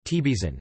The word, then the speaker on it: Trabzon: Trabzon, Turkish pronunciation, Tebizan, historically known as Trebizon, is a city on the Black Sea coast of northeastern Turkey and the capital of Trabzon province.